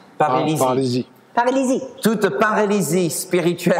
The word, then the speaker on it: paralysie: Paralysme. Paralysie.